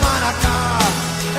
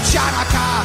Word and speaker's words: Hanukkah: Tell Darul Hanukkah, it's time to celebrate Hanukkah. It's not pronounced Chanukah. The C is silent in Hanukkah.